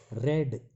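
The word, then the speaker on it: read: तो जैसे यहाँ शुरू होता है, फिर आई रेड, ये सेकंड फॉर्म है, पहली फॉर्म होती है रीड, रीड मैंने पढ़ना, ये सेकंड स्पेलिंग वही है लेकिन ये रेड बोला जाएगा।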